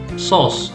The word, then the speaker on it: sauce: The pronunciation is O. Okay, so this is the diphthong.